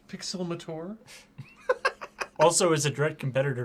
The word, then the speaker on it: Pixelmator: But it's pronounced Pixelmator.